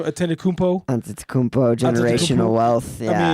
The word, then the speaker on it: Antetokounmpo: I mean, really, when you think about it, when you trade for the Antetokounmpo family, like you're really only paying when you